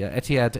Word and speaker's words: Etihad: airline is I don't even know how to pronounce Etihad no Etihad is fine it's the newspaper that it's from